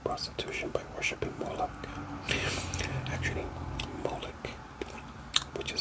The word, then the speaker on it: Molech: jewish community and so the ch is really it's a sound sound so really i say molok because that's kind of how americans say it um but it's really